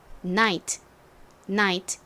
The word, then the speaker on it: night: 뒤에 t까지 들어가는 단어입니다 이렇게 gh 앞에 아가 오거나 뒤에 t 오는 경우 gh n 묵음으로 소리가 나지 않죠 자이 단어 어떻게 읽으면 될까요는 니은 소리 나고 아는 I 소리가 나고요 끝에는 소리가 나서 night 이렇게 발음합니다 전에가 들어가는 중요한 단어들만